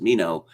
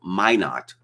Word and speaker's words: Minot: obviously a french name so it would be pronounced mino and they all looked at me blankly and then someone mentioned minot oh that's how it's pronounced okay of course